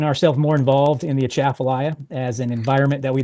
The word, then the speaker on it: Atchafalaya: Appalachia Appalachia Atchafalaya. It's a Atchafalaya. So, you want to say it like you're You want to say it like you're about to sneeze. So, it's uh, Atchafalaya.